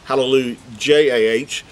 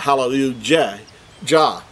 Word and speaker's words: hallelujah: our english translations i think it's written as hallelu j-a-h but we know everyone pronounces it hallelujah or halal not hallelujah ja that's not how we pronounce it now so